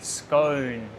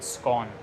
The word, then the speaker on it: scone: 没关系，就是两个发音都可以 scone and scone, both are acceptable.